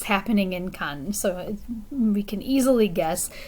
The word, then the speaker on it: Cannes: the cannes film festival in english we would pronounce it can right in french it would be khan hey you already know